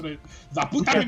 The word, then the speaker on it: Laputa: I have never watched Laputa, so I can't. La comment. Puta. Don't pronounce it La Puta.